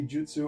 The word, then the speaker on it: jutsu: Everybody mispronounces jiu-jitsu. Pretty much at this point, reserve jitsu pronunciation for the Brazilian stuff. Jutsu is the Japanese stuff.